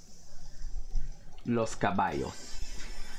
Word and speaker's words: caballos: Los caballos Los caballos two L's is pronounced as a y Los caballos wow see I learned